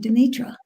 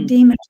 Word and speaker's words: Demeter: He captured the goddess of spring, Demetra, or Demeter, depending on how you want to pronounce it, where spring is always present in Pluto's underworld.